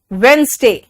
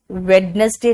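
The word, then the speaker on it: Wednesday: थोड़ा सा सॉफ्ट करो वेनसडे वेडनेसडे नहीं होता वेनसडे थर्सडे आर साइलेंट है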